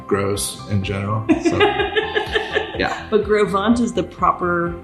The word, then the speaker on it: Gros Ventre: French and yeah he'd be mispronounced yeah it's pronounced I'll give you a five gross Ventre gross palm tree groves bond grossed adventure gross in general yeah but Grove want is the proper pronunciation yeah and so in